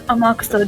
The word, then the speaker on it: Amakusa: His name is Amakusa Juza. Amakusa. Amakusa. Yeah, I mean, you're trying to pronounce it like Yakuza. It's not how you pronounce it.